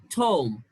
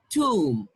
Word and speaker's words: tomb: look at this one now this is not tom it is tomb um tomb tomb now see the difference okay